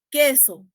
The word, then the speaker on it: queso: Queso, no es un diptongo, yo no produzco la U, ¿no?